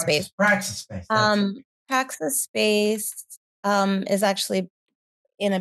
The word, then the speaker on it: Praxis: I want to talk a little bit about Prazak. How do you pronounce it? Crazy space that you created of it. You want to talk a little bit about that? Um Say Praxis again. space? Oh, Praxis space.